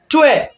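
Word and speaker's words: 对: Pour dire correct en chinois, c'est tué. Tué. Tué. Le mot tué, ça s'écrit D-U-L-I. Quatrième temps, excusez-moi. Quatrième temps. Donc, le temps descendant.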